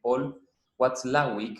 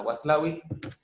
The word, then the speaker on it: Watzlawick: que también tiene un apellido muy difícil de pronunciar, que es Paul Watzlawick, que está con W, tiene una Z en el medio, Paul Watzlawick. Bueno, Watzlawick, en la escuela de Palo Alto, en California,